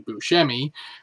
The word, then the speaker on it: Buscemi: Live, hosted by Steve Buscemi, or if you're using the appropriate Sicilian pronunciation, Steve Buscemi, with musical guest The Black Keys.